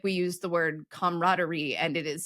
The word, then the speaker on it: camaraderie: We don't spell the word comrade, comrade, as we do the word camaraderie or camaraderie, which is spelled like the French word.